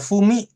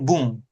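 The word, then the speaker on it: 文: Ini bisa dibaca fumi. Oke, yang artinya adalah surat atau tulisan. Oke, dia kalau sendiri begini ya dibacanya fumi. Tapi seringnya apa? Dibacanya ini, kanji ini. Dibacanya bung.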